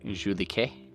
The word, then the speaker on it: Julika: K, so it's like Julike, Julike, like that, Julike.